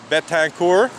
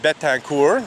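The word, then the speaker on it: Betancourt: about it Beth hacker it's the French name essentially from what I can tell and I would pronounce it bet tank or she's a professor of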